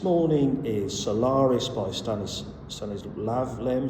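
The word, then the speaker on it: Stanisław Lem: Um the book I am want to talk about briefly this morning is Solaris by Stannis Stanis Lavm Stanis Wavm. Uh I think is more the accurate pronunciation.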